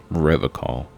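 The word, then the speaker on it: Revachol: stay strong forever call River call he pronounces with a hard K unlike other people serious question time this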